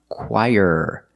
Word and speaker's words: choir: the choir so remember this word is pronounced choir very different than how it looks and you can say